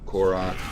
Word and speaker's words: Kor'kron: Alright, Mount Kor'kron, that's how you pronounce his name.